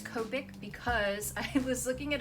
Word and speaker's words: Copic: a Japanese brand, and they don't really do the sound ka unless it's like K-A, and it's spelled C-O. So whether it was C-O or K-O, it's gonna be ko.